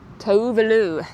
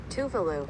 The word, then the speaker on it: Tuvalu: Tuvalu. That's fun to say. Tuvalu. I'm from Tuvalu. That has to be hecka expensive. That is gorgeous. Pronunciation. Tuvalu. Tuvalu! We said it right.